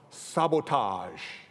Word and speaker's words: SBTG: One of them is Mark Ong, an artist who designs customized sneakers for celebrities and shoe companies under his own brand name, SBTG, pronounced sabotage.